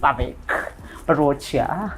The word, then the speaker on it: Bhavik Barochia: So guys, that is all I had from the side, me and Bhavik Barochia. Thank you very much. Oh, I pronounced that correct, right?